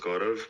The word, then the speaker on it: Gaurav: Like, my name is pronounced Gaurav, but I have a typical Indian name, so it's tough to pronounce. So you can call me. Garab.